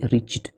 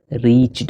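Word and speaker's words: reached: So when का मतलब जब दे रीच्ड। अच्छा एक चीज मैंने गलत प्रोनाउंस किया। ठीक है? मैंने गलत प्रोनाउंस किया ताकि आपको मैं समझा पाऊं। यह रिच नहीं है। रीच्ड है। ठीक है?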